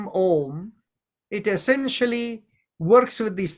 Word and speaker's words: Om: Mantra, you begin with Om Bhurbhuvasva Om Tatsavitur Varenyam. You don't say Auma Tatsavitur Varenyam. That's not how you say it, right?